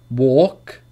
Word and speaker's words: walk: For example, for the rule is that L is not pronounced after the vowels A, O, and U. A, O, and U. There is no L sound after these vowels.